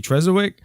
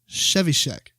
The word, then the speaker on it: Trzewiczek: Yeah, they got a bunch of other people on here, but and I think his last name is pronounced Trzewiczek. I might be wrong, but I'm pretty sure it's Trzewiczek.